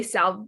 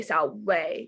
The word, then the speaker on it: salve: So like, you know how salve, salve is spelled with a V. You wouldn't say salve, you would say salve because there's no V sound in Latin.